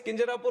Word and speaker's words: Kinjarapu: And my name is Kinjarapu Rammohan Naidu.